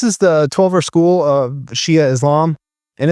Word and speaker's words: Shia: a respect thing, and that Shiite kind of sounds like the word, well, I think we know what that is. I don't want to mispronounce it as I'm prone to do. So I'm going to be using Shia to describe this branch of Islam going forward.